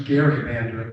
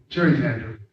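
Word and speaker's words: gerrymander: familiar with the term Jerry Mander it's really not pronounced Jerry Mander the term is Gary Mander but that's the what that's what everybody calls it but it's actually Jerry Mander and the Jerry Mander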